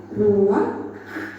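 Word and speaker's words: רוּחַ: Kata dalam bahasa Ibraninya adalah Rah. ruak. Iya benar. Tenggorokan kita harus benar-benar bersih di akhir pengucapan.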